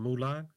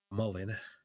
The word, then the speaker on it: Mullen: 6,000 shares of Mulan? I mean, not Mulan. I'm going to try to say it right on stream so y'all don't think I'm crazy. Mullen.